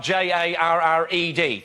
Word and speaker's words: Jarred: Jared is spelled J A R R E D.